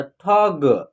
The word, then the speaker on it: ठग: इसका उच्चारण कैसे होगा ठ का उच्चारण पूरा होगा, ग का उच्चारण हाफ होगा, यानी कम, इसका उच्चारण जो है ना आधा होगा, तो ठग, ठग नहीं पढ़ना है, ऐसे पढ़िएगा तो उच्चारण आपका गलत हो जाएगा, समझ रहे हैं।